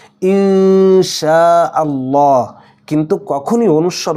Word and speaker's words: ইনশাআল্লাহ: মারাত্মক লেভেলের একটা ভুল এখানে নুন সাকিনের পরে সিন এসেছে এজন্য হবে এটা ঠিক আছে ইনশাআল্লাহ কিন্তু কখনোই অনুস্বার উচ্চারণ করে ইনশাআল্লাহ এরকম বলা যাবে না